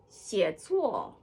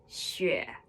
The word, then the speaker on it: 写: 写作 writing. 写 or 学. The old way of pronouncing it is 写, but really today everybody would say 学.